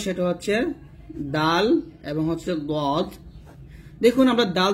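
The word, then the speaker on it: ض: বাট দদ উচ্চারণের ক্ষেত্রে কিন্তু বাংলার সাহায্য নেওয়া যাবে না, দদ মোটা উচ্চারণ করতে হবে।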